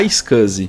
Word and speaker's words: iSCSI: a sigla iscs i Lembrando que se pronuncia A icus nativamente no Windows pelo